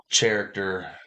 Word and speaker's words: character: we are talking about character actors. Character. It's how it's spelled. Character actors. The H is silent.